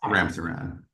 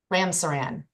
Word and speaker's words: Ramsaran: Sir, am I pronouncing your name correctly? You are, Your Honor, yes. Ramsaran. Ramsaran.